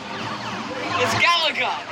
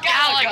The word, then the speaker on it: Galaga: It's Galaga. It's pronounced Galaga.